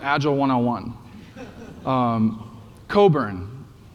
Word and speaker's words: Cockburn: And uh next question, how do you pronounce this word? This is his last name. What was that? Coburn. Oh, nice job, Coburn. So, this is good for you guys to know because it's an awkward last name and you'll sound awesome and kind of extra agile points if you know how to to pronounce it correctly.